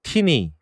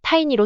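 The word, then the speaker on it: Tiny: 때가 되었습니다이 미티어 디벨로먼트 그룹이 찾은 새로운 스폰서는 티니 t 니라는 회사였습니다 타인이라고 읽어야 하는데 니라고 읽었습니다 타니로 수정합니다이 티니는 구글 우버 아마존과 이제 협업을 한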